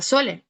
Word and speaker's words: sole: El ejemplo en la palabra sole. Encontramos el sonido S, claro que sí, mientras que en rosa encontramos el sonido Z, ¿no?